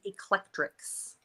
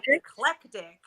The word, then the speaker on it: Eclectrics: it's Steph and the eclectrics Steph and eclectic but it's eclectric Elric eclectic yeah okay